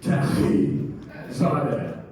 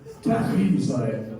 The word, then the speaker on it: Taghizadeh: And you guys are in the splash zone, so pardon me, but it's Taghizadeh. Taghizadeh. You gotta get that hard P in there, right?